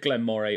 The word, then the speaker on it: Glen Moray: good point U so some of you might be cringing at the fact that I say Glen Moray from what I can tell it can be said Glenn Moray or Glen Murray but